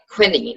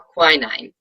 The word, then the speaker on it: quinine: So chloroquine was first made in 1934, and it's a form of quinine or quinine, depending on how you want to pronounce it, tomato.